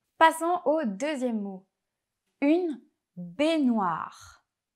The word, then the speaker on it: baignoire: vous entraîner à les répéter avec la bonne prononciation. Passons au deuxième mot. Une baignoire. Une baignoire.